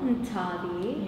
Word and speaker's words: Nthabi: Today we're in Cape Town, South Africa, speaking with female millennial entrepreneur Nthabi. Thank you so much for being on the F Show, Nthabi. Yes. Did I pronounce that properly?